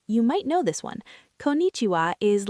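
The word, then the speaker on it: こんにちは: Konnichiwa is like your all-purpose hello for daytime.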